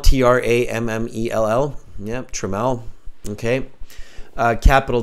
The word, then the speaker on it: Tramell: So Harjad says it's Tramell, spelled T-R-A-M-M-E-L-L. Yes. Tramell. Okay. So they spell it twice. And the guy says it's Tramell, T-R-A-M-M-E-L-L. Yep, Tramell.